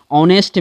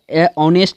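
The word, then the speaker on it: honest: नहीं हो सकता है ऑनेस्ट में एच का उच्चारण अ ऑनेस्ट में एच का उच्चारण नहीं होता है ठीक है अ का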